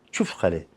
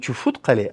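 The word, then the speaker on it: Чуфт-Кале: Чуфтхале, то есть парная крепость. Из двух частей. Эко чуфтле. Да? Не чуфутхале, а чуфтхале. Ну, созвучие такое.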